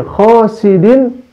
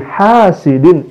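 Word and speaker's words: حاسد: Dan di akhirnya, di akhir ayat surat Al-Falaq itu, sahabat, dia membacanya wa min syarri hasidin idza hasad. Padahal yang betul adalah wa min syarri hasidin idza hasad. Jadi memakai ha bukan memakai kho, sahabat.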